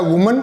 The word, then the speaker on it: women: और WOMEN मैंने जो प्रोनाउंसिएशन क्लास में बताया था, ये होता है वुमन और ये होता है विमेन। थोड़ा उच्चारण सुनने में अजीब लगेगा, बट इज the correct pronunciation, is द विमेन।